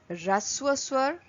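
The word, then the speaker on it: ह्रस्व स्वर: The first one is raswasur. H is silent.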